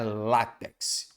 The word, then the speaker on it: látex: tônica Então vamos lá repare que cuidado não é como no dia a dia a gente ouve demais só falta não látex não é látex então a sílaba tônica é a tal da sílabada no dia a dia se coloca como sílaba tônica o tex mas na verdade é sílaba tônica é o lá então é látex repare e aqui não